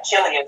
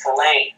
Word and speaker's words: Killian: You know, Elias Walker, he has this very enjoyable tendency to mispronounce Killian as Killane. Yeah. Over and over, just in service to his contempt of having to pronounce it as Killian.